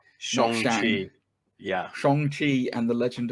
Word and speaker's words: Shang-Chi: you pronounce in this film, by the way? It's now correctly, isn't it? It's Shang-Chi. Shang-Chi.